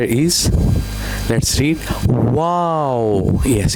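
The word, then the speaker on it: واو: The next letter is Let's read wow. Yes. It is just like wow. Wow. Okay? Yes. This shape, then this shape. Wow. Wow.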